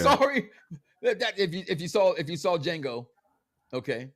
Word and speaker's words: Django: Sorry, that if you saw Django, okay, the D is silent.